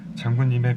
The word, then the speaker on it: 의: 뒤에 붙은 의는 에라고 발음하면 됩니다. 장군님의 배이기를.